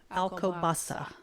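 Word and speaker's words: Alcobaça: and it's actually Alo Baka I think it's alasa there we go alasa there's it's all C's in there but one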